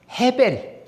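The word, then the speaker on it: הֶבֶל: 히브리어로 보면 발음이 아벨이 아닙니다. 해벨. 해벨 혹은 하벨이라고도 할 수 있는데 하벨보다는 헤벨이라는 발음이 더 강합니다.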